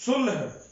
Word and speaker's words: صلح: تیار ہیں، صلح کرنے، یہ لفظ صلح نہیں ہے، یہ غلط تلفظ ہے، یہ اصل لفظ صلح ہے۔ اگر وہ صلح کی